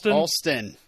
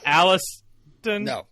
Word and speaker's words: Alston: Alston, is that how you pronounce it? Alston. Not Alliston.